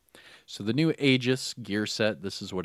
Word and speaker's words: Aegis: Now, that's how the developers are pronouncing it, Aegis. Now, I did hear some military people say it's Aegis, but the developers, and I'll copy what the developers are doing, and I'll say Aegis.